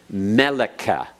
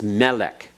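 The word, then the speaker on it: מֶלֶךְ: silent schwa never vocal it's not Melaka all right it's Melech Melech okay the schwa in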